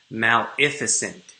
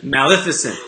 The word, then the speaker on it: Maleficent: Maleficent. So like play off of magnificent. I get it. Maleficent.